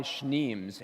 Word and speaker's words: Schneems: On Twitter, I go by Schneems, and in the U.S., a lot of people have problems pronouncing that. So it's kind of like Schnauzer or Schnapps, whichever you prefer.